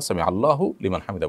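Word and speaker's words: سمع الله لمن حمده: সংশোধন করব বলব যে হুলিমান না আমরা সামি আল্লাহু লিমান হামিদা বলবো আর হুলিমান তো কেউ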